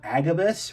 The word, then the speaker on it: Agabyss: So yes, there is a distribution company called Agabus, which is spelled Agabys.